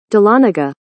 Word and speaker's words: Dahlonega: the last round darlenega is my final answer Dahlonega I was always told in life to go